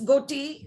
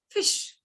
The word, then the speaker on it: Ghoti: Yes, that's how you would pronounce it because it is Ghoti. But I can have an argument with you and I can say, no, I want to pronounce it as fish.